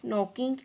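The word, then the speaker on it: knocking: शी इज़ नॉकिंग एट the door. बच्चों, यहाँ पे नॉकिंग है। नॉकिंग में के की जो साउंड है वो प्रोनाउंस नहीं हुई, इसलिए हमने नॉकिंग को सर्कल कर देना है।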